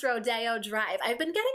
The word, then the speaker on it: Rodeo Drive: And yes, you guys, it is pronounced Rodeo Drive.